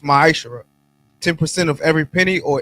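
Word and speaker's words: ma'aser: Means 10th in the Hebrew and pronounced ma'ashara.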